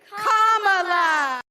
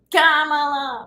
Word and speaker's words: Kamala: First you say comma like a comma in a sentence. Then you say la like la la la la la. Put it together and it's 1, 2, 3, Kamala. Kamala, right?